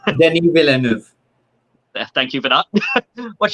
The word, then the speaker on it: Denis Villeneuve: Speaking of Denis, I can never pronounce this guy's name. Go on, Sean, what's his name? Denis Villeneuve.